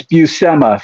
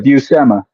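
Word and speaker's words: Buscema: tell you real quick it's buma for everyone out there buma bua uh popman Chris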